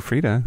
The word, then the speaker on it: Freedia: stars like brig Big Freedia and messy Maya Frida Frida she's for Julia and Freda silent I think it's Big Freedia Big Freedia okay it's spelled F REE dia okay the silent eye